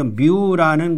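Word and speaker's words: μ: 여기 그리스 문자가 또 나왔어요.이 뮤라는 것은 영어에는 m으로 발전한 것인데 비슷하죠. 뮤라고 있습니다. 뮤. 뮤 뮤. 여기다가 뮤라고 읽어서 요렇게 쓰고 뮤라고 읽어요. 그는 우리는 무 이렇게 읽을 수도 있지만 이게 뮤라는 거예요. 뮤. 그리고 여기 뉴라는게 있는데 요렇게 씁니다. 뉴라는 것은 뉴라는 것은 요렇게 써요. 뉴라고 쓰고 뉴라고 읽어요. 그러니까 영어의 N에 해당되고 뮤는 영어의 m에 해당되고 뉴는 영어의 N에 해당된다.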